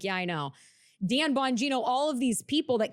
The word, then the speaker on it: Bonino: Pam Bondi, Cash Patel, Dan Bondino.